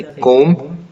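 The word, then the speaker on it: comb: इसी तरह से कोम, ठीक है, कंघा, तो ये सब में आप देखेंगे तो B साइलेंट हो जा रहा है।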